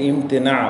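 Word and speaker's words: امتناع: ইস্তেকবার কুফরুল ইম ইমতেনা বাংলাতে লিখলে হসই ম তা তহিশি হিশিকার ন দন্তান্য আকার আইনের উচ্চারণ শেষে হবে না একটু কমা দিয়ে রাখবেন তো একে ইমতেনা বলা হয়।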